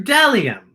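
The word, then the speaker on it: bdellium: a b is for dellium what b d e l i dellium we doubt anyone knows what dellium is but it's the only word dumb enough to begin with a silent b how about c c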